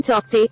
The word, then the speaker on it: Tauktae: Cyclone Tauktae, pronounced as Tauktae, intensified into a cyclonic storm on Saturday morning.